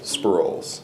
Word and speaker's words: Sproles: how do you say your last name Scrolls spur roll sprawls yes that German I think it's a good